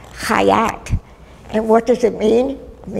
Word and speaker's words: Chait: Now my name, Chait, actually is pure, but it's not Yiddish, it's Hebrew. And the name is actually pronounced Chait.